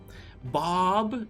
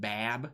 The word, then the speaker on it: Bab: Bob is like the correct way of pronouncing it. I don't speak Arabic, so it's probably not 100% correct, but Bab is not technically correct.